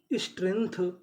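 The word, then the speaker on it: strength: को पढ़ते हैं था यानी आपको कहीं पर जीटीएच लिखा मिले तो हमें क्या पढ़ना है था जैसे जैसे यहां पे जीटीएच लिखा है और यहां पे जीटीएच लिखा है तो इसे पढ़ेंगे था तो मीनिंग क्या बनी? Stray nth स्ट्रेंथ। स्ट्रेंथ स्ट्रेंथ का मतलब होता है ताकत।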